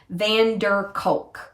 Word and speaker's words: Bessel van der Kolk: score by vessel bender bessel van der kolk i can never say his name bessel vanderkulk van der kolk just the way it sounds and then but peter